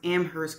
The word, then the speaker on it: Amherst: Amherst am I right he pronounced Amherst correctly keeping the H silent fine school he continues I